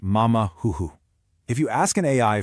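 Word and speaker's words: 马马虎虎: Take the Chinese expression pronounced mama huhu.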